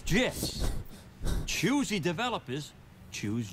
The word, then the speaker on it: GIF: Acronym's pronunciation is determined by the creator of the said acronym, like a proper name. In this case, the creator of the graphics interchange format, Steve Wilhite, says it's GIFs.